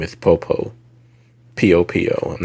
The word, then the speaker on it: Popo: I want to say his name is Popo.